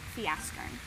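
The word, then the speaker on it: Fjäskern: The song that we're going to use today is a song called Fiaskern. That's a Swedish song, and it's spelled kind of funny. It's spelled like this. The FJ sound makes a Y sound, which reminds me of a joke that I heard one time.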